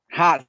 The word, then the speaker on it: Hass: video sobre los aguacates, no sé si la pronunciación es buena, Hain o aguacate Hain, con Has. el tema Hass, correcto, Ujú, y sí es.